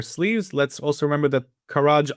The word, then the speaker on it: Kharg: Let's also remember that Kharaj Island or Kharg, depending on how you pronounce it, which is their main